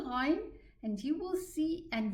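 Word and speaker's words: غ: So if I want to know where the Ghain is pronounced from, I will say Al, Al, and push the Ghain, and you will see and you will feel exactly where the Ghain is pronounced from.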